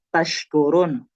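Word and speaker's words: تشكرون: Itu kan ada syin ya taskurun. Jangan sampai dia bacanya malah sinin taskurun. Nah, itu beda nanti maknanya berubah.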